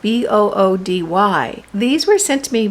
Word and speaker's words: Boody: These are bamboo PJs from a company called Booty, and it's spelled Boody.